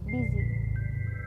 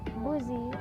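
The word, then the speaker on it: busy: how they are pronounced the first is dizzy here we can see that the u does not make the sound we might expect instead it makes an e sound it is not boozy or buzzy but it's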